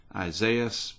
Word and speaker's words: Isaias: the ice storm and i believe that is pronounced isaias something like that and that's going to